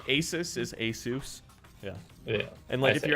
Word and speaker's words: Asus: say there ti cards is a company actually pronounces it tie just like Asus is a soos yeah and let if you ever add a